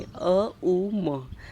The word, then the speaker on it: ओम: तो कभी भी आपको ओम नहीं बोलना। आपको बोलना है तीन शब्दों में अ उ म that is the perfect one.